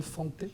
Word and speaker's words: Fante: L'histoire du film est une adaptation d'un roman américain assez féroce de John Fante, on prononce comme ça.